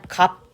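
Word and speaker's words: 값: 마찬가지 비읍 시읒은 뭘로 읽을까요? 맞아요. 갑 이렇게 읽습니다.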